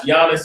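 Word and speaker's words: Jannes: Just so y'all know, I pronounce Giannis and Yambres that way because the letter J didn't exist before 1611. So where you see the J, it's a Y.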